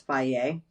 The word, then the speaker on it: Fage: A lot of you would pronounce that phage. It's Fage. I say that not to say, hey, you're calling it the wrong thing.